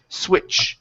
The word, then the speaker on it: switch: Instead of swit with a T, it's a CH, like my name. Switch. Switchbacks. Switchbacks. Switch. Yes, good. Great. So that T is silent. We don't need to say it.